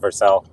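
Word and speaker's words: Vercel: See, Joe, I told you it's pronounced Verscell.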